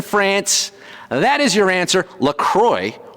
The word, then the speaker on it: LaCroix: that is your answer Lacroix or Lacroix if you want to be French about the pronunciation is actually headquartered in